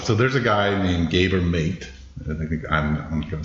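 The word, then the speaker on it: Gabor Maté: a guy named gabber mate I think I'm I'm going to say his name right but it's g a b o r m a t e but the E has a accent over it so I don't he's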